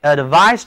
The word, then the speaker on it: advise: I advised him to see the doctor.